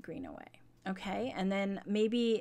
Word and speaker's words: Greenaway: I'm sorry, I was saying her name wrong. Kate Greenaway.